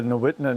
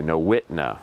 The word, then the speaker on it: Nowitna: And we're in I guess we're in this refuge called Nate, how do you pronounce this name of this refuge? It's the Nowitna National Wildlife Refuge. Okay, Nowitna.